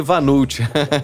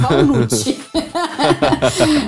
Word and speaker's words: walnut: Eu falei vanult, que gafe, né? A gente fala assim, o vulgo walnut. É walnut, né? Mas é uma pronúncia da língua inglesa e isso é apenas uma curiosidade, né?